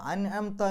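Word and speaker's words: أنعمت: ഇനി സിറാത്തുൽ ലദീന അൻഅംത, അൻഅംത എന്ന് പറയുമ്പോൾ ഐനിൻ്റെ മുമ്പ് സുക്കൂനുള്ള നൂന് വന്നു.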